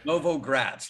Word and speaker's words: Novogratz: And is it Novogratz? Is that how you pronounce that? Novogratz, like new city in Russia.